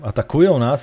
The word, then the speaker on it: atakują nas: Atakuyo nas! Yeah, atakują nas is actually a very proper Polish pronunciation.